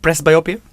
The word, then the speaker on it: presbyopia: ask you shout out let me get this pronunciation right what are presbyopia correcting lens implants did I get that right press biopia yep what exactly are they